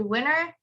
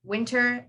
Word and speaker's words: winter: it but if you notice some people say winner it's because of that weird rule in american accent so you would say winner or winter and they both they both are the um same pronunciation but i usually do say winter because i do think